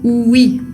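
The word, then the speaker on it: oui: palabra ui se pronuncia ui no O u i sino que la O U se unen para hacer el sonido u otro ejemplo que podemos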